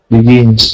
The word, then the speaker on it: begins: Begins. Okay, but we have begins. That's right. We need to hear that z sound at the end of it.